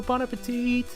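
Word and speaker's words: bon appétit: I'll devil if you're playing no time so Bon Appetite pardon us Bon Appetite Bon Appetit like jet set radio future you know that birthday cake song shut up and eat too bad no bon appetit haha well anyway let's tackle the first stage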